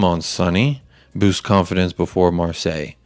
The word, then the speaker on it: Marseille: sonny boost confidence before marseille is that how you say it marseille or do you mar say it differently we're saying you said it right okay i'm glad that